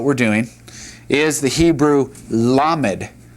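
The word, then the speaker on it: למד: All right, the next letter, let's go ahead and draw our line here so we see what we're doing, is the Hebrew lammed. Lammed.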